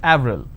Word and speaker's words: Avril: it's a month right in french it's pronounced that avril the name clement is